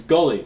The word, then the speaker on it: Guile: It's Gully. No, it's Guile.